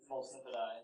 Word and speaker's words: multifidi: Multifidi. Yeah, I actually think that is the correct pronunciation. I think the high school students started getting me to say it this way.